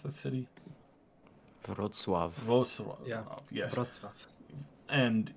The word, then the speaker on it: Wrocław: Well, sorry, how do you pronounce that city? Wrocław.